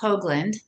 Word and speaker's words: Hougland: My last name is pronounced Hoagland, like the sandwich.